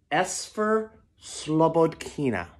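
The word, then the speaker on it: Esphyr Slobodkina: as a kid and I think it's pronounced s fur slowboat kina once there was a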